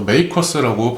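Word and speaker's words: MACRS: 영어로모디파ed cost리 시스템 그렇게 해 가지고 MACs 그래서 메이커스라고 발음을 하는데 자 어 그래서 우리가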